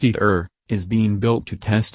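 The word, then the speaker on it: ITER: international thermonuclear experimental reactor and pronounced eat earth is being built to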